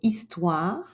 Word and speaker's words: histoire: Maintenant, un exemple avec le H muet dans le mot histoire qui est un nom féminin. Commençons donc par un H que l'on entend pas. On ne dira pas ma histoire mais plutôt mon histoire.